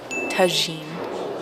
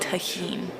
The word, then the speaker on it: tagine: I'm pronouncing it in Spanish. Tagine, not tahine.